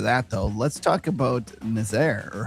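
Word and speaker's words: Nazaré: Yeah, and before we get on to that, though, let's talk about Nazaire, or how do you say it? Nazare.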